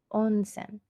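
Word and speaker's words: 温泉: in here on Sam oh hmm sir hmm onsen on Sam and that is hot spring in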